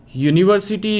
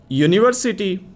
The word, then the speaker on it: university: see its initial sound in the word University or University the sound is here and your sound is not a vowel sound it's a consonant sound you you sound